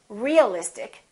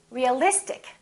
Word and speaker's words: realistic: ic in this case we don't stress the suffix but we stress the syllable immediately before the suffix realistic we don't say realistic we don't say realistic we say realistic electric electricity electric strategic